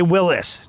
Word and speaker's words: Willys: Willis is actually how it's said, but we got a standard stock 2025 Jeep Willys right here.